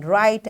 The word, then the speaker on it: write: today, we learned that silent letters are not pronounced in words even though they exist in the spelling. And we practiced saying and writing words with silent K and W. In this way, we achieved our today's SLO, that is to pronounce and spell simple words with silent letters as W in write and K in know.